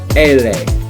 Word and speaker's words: ele: Now in Spanish it's L, but in English it's L, but in Spanish it's ele. Ele.